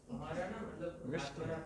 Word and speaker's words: Richtig: How do you say right in German? Richtig? Richtig? Richtig? Richtig. That sounds like drishti.